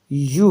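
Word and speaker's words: ewe: यू, सबसे पहले तो इसका जो प्रोनाउंसिएशन होगा वो यू होगा।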